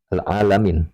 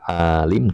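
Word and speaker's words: العالمين: Bifahti lami ini diajarkan cara baca alamin. Nah, bukan alim tapi alamin. Bifati lam dengan lamnya di fathah.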